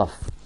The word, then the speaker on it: tough: ال gh دول بنطقهم f، tough.